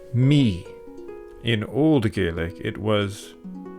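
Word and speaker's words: Mí: In modern Irish, it's pronounced Me.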